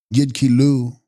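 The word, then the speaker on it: Yid-kyi-lus: Text: Yidkilos, pronounced Yidkilu, mental body, desire body, or thought body.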